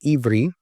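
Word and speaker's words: עברי: In the Hebrew language, it's pronounced Ivri, but it was used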